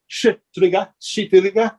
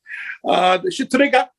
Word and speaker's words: Shtriga: So the areas of Albania, you're going to have folklore, and it's spelled Shtriga. So it is Shitriga. It sounds like something else. I'm sorry. There's no other way to say it, right? Shitriga.